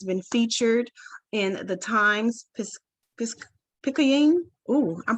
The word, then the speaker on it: Picayune: His work in the area of divorce has been featured in the Times Picayune. Ooh, I'm pronouncing that all wrong.